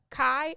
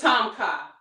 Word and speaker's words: Tom Kha: But, okay, so today did I pronounce it wrong? Is it lobster kai, or how do you pronounce it? It's Tom Kha. Tom Kha, okay.